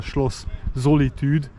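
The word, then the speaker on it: Schloss Solitude: correct pronunciation is a schllo zolitude it's a French word taken over from uh the French language into German.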